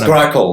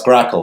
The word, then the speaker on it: Grakn: And if you that's Grackle. That's Grackle. Grackle. Yes.